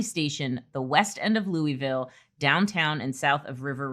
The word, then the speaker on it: Louisville: She says it's not Louisville, it's Louisville.